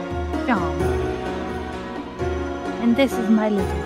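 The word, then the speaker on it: Seam: The name's Sean. Pronounced Sean.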